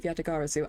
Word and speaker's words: Yatagarasu: The fantasmagorically changing identity of the great thief Yatagarasu.